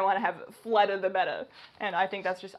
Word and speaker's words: betta: It's going to be a betta fish. The correct pronunciation is betta, not beta. Common misconception.